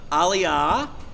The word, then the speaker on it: Aliyah: honor is called analia Aliyah is the Hebrew pronunciation we have three alio